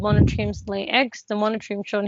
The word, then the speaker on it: monotremes: Only one group called monotremes lay eggs.